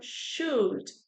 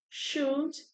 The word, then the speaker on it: should: Então, should, should é o mesmo som que a gente pronuncia para falar xícara.